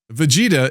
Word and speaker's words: Vegeta: In an early manga panel, Vegeta, is that how you say his name? Yes. Vegeta is shown eating noodles with a fork despite being royalty.